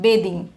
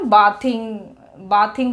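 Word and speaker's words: bathing: इसका मीनिंग होता है बेदिंग। डियर लर्नर, इसको बाथिंग नहीं बोलेंगे आप, है ना। बाथिंग बोलते हैं ना, बाथ से बाथिंग बोलते, बाथिंग नहीं, बेदिंग। The correct pronunciation is बेदिंग।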